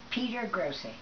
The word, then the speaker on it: Piergrossi: it uh just like thaty pet p gry Peter gry and how pet gry Peter gry